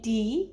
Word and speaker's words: the: one ditambah kata the tapi dibacanya di karena ketemu huruf out vokal Uja Didi only one